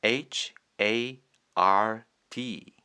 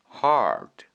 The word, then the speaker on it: hard: 아니고 hard 하 뒤에 리을 받침이 따로 오는 형태입니다.